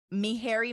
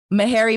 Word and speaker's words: Meharry: year medical student at mihari Medical College did I say it correctly Harry Meharry Medical College she holds a BS